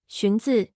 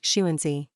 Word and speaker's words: Xunzi: lexington books for technical reasons the chinese name shinzo which is spelled xuanzi will mostly be mispronounced shuensey a defense of early confucian pacifism are the